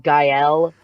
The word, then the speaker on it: Gael: right there's there's no there's no correct way of pronouncing my name there's like even i switch it up sometimes i don't i'm trying to i'm i took french a long time ago in high school i'm pretty sure it's pronounced gael and but the only